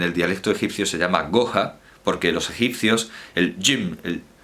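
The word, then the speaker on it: جحا: Bueno, en fin, que ese jim los egipcios directamente lo pronuncian como G. Entonces no dicen yuja, no dicen yuja, dicen goja, porque la U también la abren.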